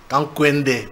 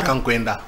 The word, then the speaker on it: Kankwende: Kankwende, pas Kankwenda.